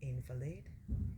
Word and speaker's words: invalid: Grandpa doesn't want to feel like an invalid. You know that word invalid pronounced differently is invalid.